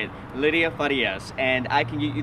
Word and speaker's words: Farias: it again that's how you say it lydia farias and i can get you that contact information